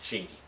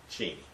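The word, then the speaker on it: Cheney: that would be Justice or dict cheni which is the proper pronunciation of his name cheni with his five deferments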